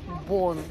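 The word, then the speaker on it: Beaune: Наконец-таки приехали в город Бон. Пишется Бауне, я подпишу как правильно.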